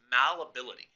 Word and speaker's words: malleability: The first one, you say it, here's how you pronounce it. It's malleability.